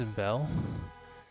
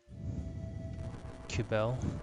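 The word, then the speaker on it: Cybele: I can pronounce it I think it's cibele q Bell but I've always thought of it with a soft C and they had these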